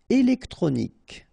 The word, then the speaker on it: électronique: Électronique. Okay, so as we saw previously, QUE at the end, K. Okay, électronique.